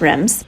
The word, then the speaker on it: Reims: So this town is actually pronounced Reims.